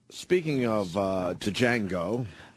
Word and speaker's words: Django: God g speaking of uh Django. Django. I pronounced the D.